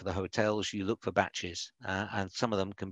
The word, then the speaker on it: bach: a bachelor as a batch. They pronounce it with a T, but it's kind of, it's a shortening of bachelor.